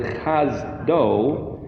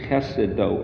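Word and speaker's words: חסדו: Make it, instead of saying chesedo, they changed the emphasis of the syllables, so it's chazdo, but you can read it as chesedo or his chesed.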